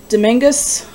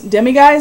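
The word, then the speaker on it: Demiguise: and behind that is my Demingus, or not Demingus, Demiguys, I think is how you say it, print that was also in that same box.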